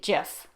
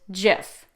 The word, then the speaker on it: GIF: say it um so i was taught almost 30 years ago to say jeff like the peanut butter the creator of jeff calls it jif like the peanut butter but a